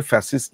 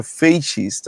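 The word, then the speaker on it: fascist: ফ্যাসিস্ট শব্দটা আসলে একটু এটার উচ্চারণটা আসলে ফ্যাসিস্ট না। এটা হচ্ছে ফেসিস্ট আসলে বলা যেতে পারে। ফ্যাসিস্ট বলে আসলে কোন শব্দ নাই।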